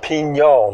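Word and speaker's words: Piñon: Pinon, it's pronounced Pinon.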